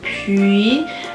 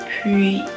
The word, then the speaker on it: puis: As an English speaker, we don't really have this E sound in English. Really try to round your lips when you say the U and the puis, et puis.